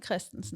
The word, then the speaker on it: Christensen: But if you want to say it proper, it's Christensen.